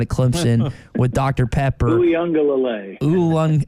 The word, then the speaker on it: Uiagalelei: DJ, not even going to try and pronounce his last name out at Clemson, with Dr. Pepper. Uiagalelei. Uiagalelei.